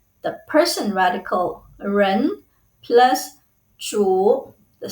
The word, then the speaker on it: 主: The pronunciation is zhu, third tone.